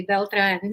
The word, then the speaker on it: Beltran: said my name um you said it correctly beltran so it's so refreshing to hear someone that can actually pronounce it properly well as we're going to